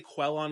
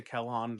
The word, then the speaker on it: Quellon: Some people say Quellon because it's spelled with a quu. I say Kellon to Sumi.